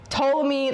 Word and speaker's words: Ptolemy: So he sees the opportunity to kill the queen, handing the throne to 5-year-old Ptolemy V. Silent P the Fifth.